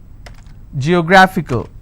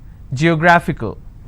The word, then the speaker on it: geographical: Now this fickle is coming up to 2 syllables, right? But this will still be combined as word ending, and this is the stress. Geographical.